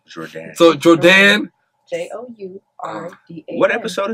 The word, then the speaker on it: Jourdan: pronounce my name. I like that. It's Jourdan. See, and I've been calling her Jordan this And entire everybody time.